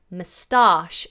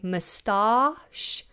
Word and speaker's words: moustache: Now, in the UK, we have two ways of pronouncing this. In some cases, there are even more ways, depending on the region. But generally, people either say moustache or moustache. Moustache or moustache.